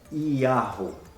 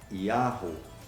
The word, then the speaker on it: Yahu: muitos pesquisadores a tradução a pronúncia correta do nome do criador e é yahoo então conta outra tá grama é produzido e a pronúncia é yahoo o nome do eterno